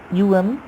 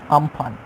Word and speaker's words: Amphan: And if we want to discuss about its name pronounced it as UMPHAN, Amphan.